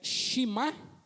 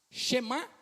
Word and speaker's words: Shemá: Porque vocês lembram de uma palavrinha chamado eh shimá? Shemá. Lembra ou não? Vocês não são obrigados a lembrar, né? Shemá é uma palavra que significa, né? Chemá se escreve s h e m a oemá israel, né?